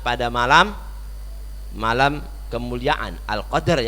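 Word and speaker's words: القدر: malam Hai malam kemuliaan al-qadr ya bukan al-qadar bacanya dalilnya disukun ya Jadi kalau al-qadar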